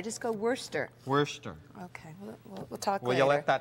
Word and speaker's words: Worcestershire: Worcestershire. No, dear. We had a letter about this, dear. It's Worcester sauce. Worcester. You Yeah. don't have to. Don't think Shire. Just go Worcester.